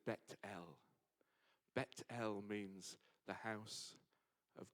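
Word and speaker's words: Beit El: the Gate of Heaven he called that place bethl in Hebrew and if you go there now it you pronounce it as betel betel means the house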